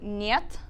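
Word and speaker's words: нет: So the pronunciation of this one is actually niet. It's a little Niet?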